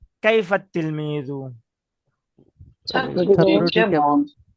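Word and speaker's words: كيف التلميذ: যে আত-তিলমিজুন যেটা আছে, তো এখানে আলিফও কিন্তু উচ্চারণ হইলো না, আবার লামও লাম উচ্চারণ হবে না।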